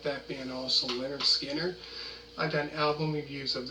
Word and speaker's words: Lynyrd Skynyrd: out called Simple Man, off their debut album, pronounced Leonard Skinner, which I also done album reviews. If you like that band also, Leonard Skinner, I've done album reviews of theirs from Pronounced